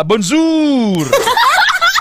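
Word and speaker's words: bonjour: sa Spain hola sa French ah bonjur. B o n j u r. Pero ang pronunciation sa ni bishop doon ah. Bonzur sa Germany naman ma'am bete.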